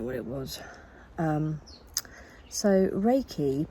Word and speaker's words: Reiki: i didn't know what it was um so reiki pronounced as in the way i'm pronouncing it although it looks like you might pronounce it reiki or something can anyway reiki is a complete